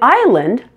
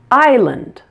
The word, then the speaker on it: Island: the English alphabet but in Island the S is silent notice the pronunciation Island the S sound in